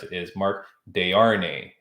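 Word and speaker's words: Desharnais: name so he he told me how to pronounce it is Mark de'arnae it's d-e-s-h-a-r-n-a-i-s all right okay but it's Mark de RNE uh Havoc FC he's fighting next week so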